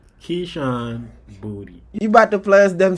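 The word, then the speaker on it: Boutte: Keyshawn booty nah there's no way nah it's booty it's pronounced booty that's how they say that booty yeah b-o-u-t-c-e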